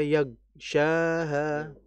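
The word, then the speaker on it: يَغْشَاهَا: Gain kalau dalam kondisi sukun mati harus dialirkan dan ditebalkan. Nah, biasanya kita ini seperti ke G. Wallaili idza yagsyaha.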